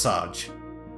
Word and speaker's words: Serge: Which makes me think that, you know how I said it's the main protagonist's name is Serge? It can't be. It has to be Serge. It has to be pronounced Serge. Alright, we will leave our own house.